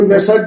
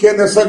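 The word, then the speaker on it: Knesset: তো তিনি দুদিন আগে গেছিলেন এবং সেখানে গিয়ে যে ইসরাইলের যে পার্লামেন্ট সেখানে তিনি বক্তৃতা দিয়েছিলেন ইসরাইলের পার্লামেন্টকে কেউ নেসেট বলেন কেউ কে নেসেট বলেন নানাভাবে উচ্চারণ করা হয় ইসরাইলের পার্লামেন্টে গিয়ে তিনি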